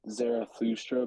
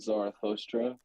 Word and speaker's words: Zarathustra: supposed to be like Zarathustra, but I've always said Zarathustra.